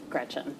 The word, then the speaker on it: Gretch: Don't let people call you Gretch because it rhymes with wretch.